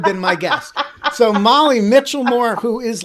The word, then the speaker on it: Michelmore: your last name pronounced michael moore no it's it's mitchell moore as if there were a t in there wow yeah nobody gets